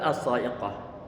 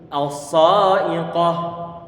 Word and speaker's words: الصاعقة: Ini huruf shad, pengucapannya jangan sampai lupa. Ini di antara huruf yang punya sifat isti'la. Berarti pangkal lidah dia naik ke atas.